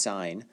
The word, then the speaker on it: sine: one of them is the sine ratio pronounced sine this is the ratio